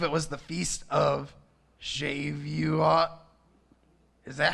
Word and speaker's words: Shavuot: feast i believe it was the feast of shave you uh is that how you say it s h a v u o t maybe it's shavuot anyway they call it pentecost